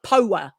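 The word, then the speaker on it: Poua: So yeah, it's almost like power, but Paua is Oh, okay. how we're saying it.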